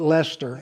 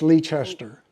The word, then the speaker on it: Leicester: The locals call it Leicester, and if you're not from here, it's Leicester.